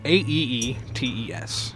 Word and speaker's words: Aeetes: It's Perse, or the goddess Hekate and someone named Aeetes? I don't know how to pronounce that exactly. It's Aeetes.